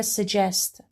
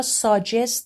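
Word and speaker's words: suggest: داد گذشته فعل سجست من این کلمه رو ساجست تلفظ نکردم چون بعد از اس همون طور که توی تصویر می‌بینید صدای ش رو داریم سجست سجست سجست وا صدای ت و ی به همدیگه میچسبه صدای چ تولید میکنه میکنه میکنه مثال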